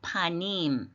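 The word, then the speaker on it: פָּנִים: 연결형이 기본 단어는 파입니다 파님 예 파님 이렇게 파에 액센트가 있어요 파님 파은 얼굴이에요 자 그럼 철자로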